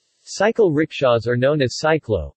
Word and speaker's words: cyclo: Cycle rickshaws are known as cyclo, pronounced C-C-L-O, in Cambodia.